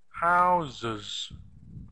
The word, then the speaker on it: houses: spelling The Sounds yeah houses houses in the normal spelling we've got two s's but we don't say houses houses it's actually z z sound houses houses so this